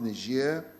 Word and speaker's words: Niger: And these are the G20 in Japan, the African Union Extraordinary Summit in Niger, as it's pronounced, Niger, the SADC Summit in Tanzania, the Tokyo International Conference on Africa's Development in Japan, Russia-Africa Summit in Sochi in Russia.